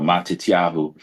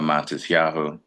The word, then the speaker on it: Matisyahu: a s so M that's where you get the matis instead of matit and that's what you have matis yahu is my Hebrew name